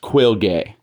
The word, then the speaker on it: Quilge: And yes, his name's pronounced Quilge.